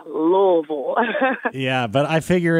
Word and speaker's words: Louisville: So just forget about the S and forget about the E in it. Just say Louisville.